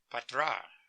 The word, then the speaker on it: Patra: It was Julius Patra. We pronounced it Patra. Patra is the way it pronounced it.